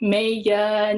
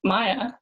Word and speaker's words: Maiya: So this one is called Just Maya. 5 of us in social studies, 4 of us in PE, 1 of me. Not Maiya, not Maiya, just Maya. Don't let the I fool you.